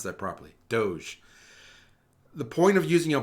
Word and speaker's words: DOGE: Doge and I hope everybody knows how to pronounce that properly Doge the point of using a blockchain is that